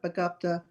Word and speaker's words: begabt: Nun, diese Vögel sind nicht gerade begabte Haushälter. So, begabt is gifted or talented. Make sure to open your mouth whenever you say begabt and stretch it a little bit.